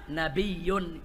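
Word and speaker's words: نَبِيّ: nabiyun, yaitu bitasdidil ya, nabiyun, ya-nya pakai tasdid, nabiyun. Nah, kalau nabi itu berasal dari kata kalau nabiyun kita bacanya nabiyun dengan tasdid, maka itu makhuzun minan nubuwah.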